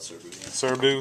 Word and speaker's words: Serbu: how do you say it we call it serbu cerebellum whatever it don't matter all you need